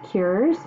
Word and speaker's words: qurs: The word breakfast is how you say it is cures.